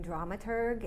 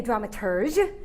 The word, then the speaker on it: dramaturg: decades as a Shakespearean drama tug and a drama tug you mean a dramaturg oh no the brits pronounce it differently than the Yanks right as we deal